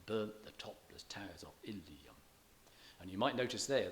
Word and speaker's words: Ilium: And you might notice there that the final syllable of Ilium attracts some stress, though strictly it shouldn't, being the last syllable of a word that's stressed already, and it also has 3 syllables. The Ilium is stressed normally on the first syllable, so you would expect